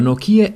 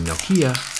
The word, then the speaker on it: Nokia: where I got mine Nokia is pronounced differently all over the world but here in the USA saying Nokia is pretty standard this is the same